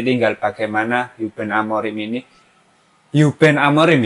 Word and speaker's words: Ruben Amorim: Nanti tinggal bagaimana Ruben Amorim ini, Ruben Amorim ya pelafalannya, aku baru tahu.